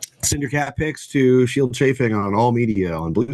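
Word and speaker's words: Scyld Scefing: Yes, you pronounce the C's like the SC like SH in this case.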